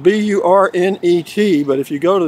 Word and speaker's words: Burnet: All from Burnet, Texas. I'll tell you why. It's spelled B-U-R-N-E-T, but if you go to the Chamber of Commerce, they'll tell you it's pronounced Burnet.